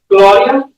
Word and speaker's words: Gloria: Gloria is technically supposed to be a little bit more like aw, like Gloria.